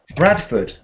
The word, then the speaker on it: Bradford: Ford becomes Fud. So, how do we say this city? Bradford.